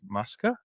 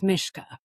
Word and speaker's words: Myska: So today we have uh Muska um if I'm pronouncing the last name correctly. Actually it's it's Czech. So it's Mishka but okay.